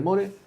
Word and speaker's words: More: El en Mor, el comandante se escribe more, no more, que mucha gente que se confunde y le llama More, muore.